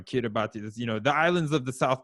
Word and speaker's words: Kiribati: are at our doorstep, like the fact that Shirabai, I always say it wrong. Kiribati, the islands of the South Pacific are literally going under the water right now.